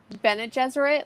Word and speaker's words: Bene Gesserit: Because I say Benny Gesserit. I know everyone says it different. Bene Gesserit, like Benny and the Jets.